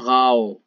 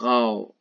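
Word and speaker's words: Frau: اگر آ و او چیر پشتا بیاین اشی تلفظ بیتیم آو آو نه؟ مثال دیف غاو، دیف غاو، دیف غاو یعنی جنین، یعنی زال، زال و بول، حالا خانوم نه؟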